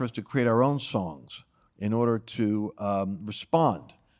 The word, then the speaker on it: Sohn: I'm going to pronounce it as Son, Sohn, S-O-H-N.